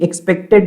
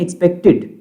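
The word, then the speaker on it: expected: ठीक है, ये एक्सपेक्टेड नहीं है, एक्सपेक्टेड. ठीक है, टिड, TED है लेकिन उसको TID के फॉर्म में प्रोनाउंस करते हैं.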